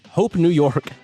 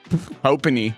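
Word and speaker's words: HOPENY: Hope New York. Hope NY. Hopony. Hopony. Brandon just said, not hope New York. It's spelled H O P E N Y.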